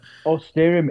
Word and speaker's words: Austerymn: Looking forward to seeing uh I keep saying Auststerum. I know that you pronounce it differently, but Austerium is great. Auster, the way you pronounce it is absolutely fine. Honestly, we've had so many bad pronunciations of it that the way you pronounce it, mate, I'll take that any day of the week.